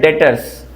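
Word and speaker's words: debtors: इसको लिखते हैं डेप्टर्स पर पढ़ते हैं डेटर्स। बी यहां पर साइलेंट है।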